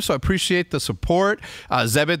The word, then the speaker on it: Zebit: Zebit, that rhymes with debit, believes that everyone deserves access to lifelong interest-free credit.